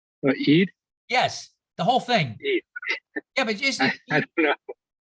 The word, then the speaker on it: Eid: And would you tell us how you correctly pronounce the name of the holiday today? Eid? Yes, the whole thing. Eid.